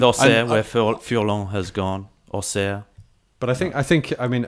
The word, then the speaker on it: Auxerre: Auxerre.